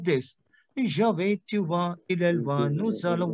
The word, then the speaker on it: vas: Je vais, tu vas. देखो यहाँ पे what we are doing over here, we are not pronounced S because S would be silent.